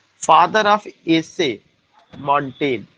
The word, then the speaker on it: Montaigne: तो इट्स a very significant point कि father of essay मॉन्टेन, MONTAIGNE, मॉन्टेन is known as father of essay, father of essay मॉन्टेन।